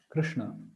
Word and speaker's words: Krishna: So yes, Krishna. Is it the Cree sound or crew sound? Is it ru or re? Okay, that's also one thing. It's not crew.